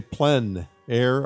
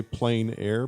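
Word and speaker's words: plein air: means outside or Outdoors the French say PL air others say plain air but no matter how you say it there's a huge movement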